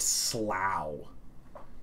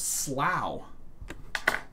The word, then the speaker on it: slough: then like s l s-l-o-u-g-h is pronounced slow there's so many weirds